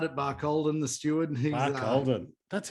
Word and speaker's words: Barcaldine: He's, Barcaldine. That's how you pronounce it. I've never known that. Barcaldine.